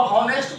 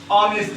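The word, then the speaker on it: honest: कितना लोग इसको हॉनेस्ट पढ़ते हैं, लेकिन इसको हॉनेस्ट नहीं, इसका करेक्ट प्रोनाउंसिएशन ऑनेस्ट होगा।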